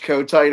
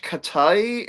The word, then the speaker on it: Kotite: I'm so glad that Jess mispronounced this when she saw this the the shirt I survived the rich Kotite era and she's like who is rich Katai and I'M JUST LIKE KOTAI IT'S KOTITE AND I GOT so fired up to that.